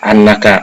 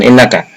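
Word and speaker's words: أنّك: Jadi itulah annaka menjadi mubtada, maka dibacanya pakai hamzah berfathah annaka, bukan innaka.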